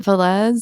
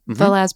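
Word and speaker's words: Vélez: Is it Velez? Yeah. Is that how you pronounce it? Yeah. Velez. Yeah. Velez performed really, really, really well.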